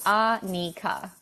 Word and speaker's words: Annika: accents that people have like Annika arnica is fine but swing like ah Nika that's kind of how